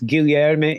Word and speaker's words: Guilherme: I mean, yeah, kind of like in Portuguese, it's Guilherme.